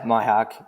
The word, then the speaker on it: Mihok: Yep, Mihok.